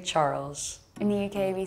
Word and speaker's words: Charles: Oh, there is only French saying like sh, not ch. Yeah. You just say Charles.